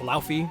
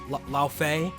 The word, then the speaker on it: Laufey: War Leve, and yes, I know it's called Lauf, it's actually pronounced Laufey, or Laufey, but I'm saying Leve because it's way funnier.